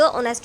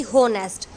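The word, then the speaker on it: honest: तो इसको हम द ऑनेस्ट नहीं पढ़ेंगे, दी ऑनेस्ट बॉय। दी क्योंकि एच है, एच तो हमारा साइलेंट रहता है, हम पढ़ते हैं ऑनेस्ट, ना कि होनेस्ट।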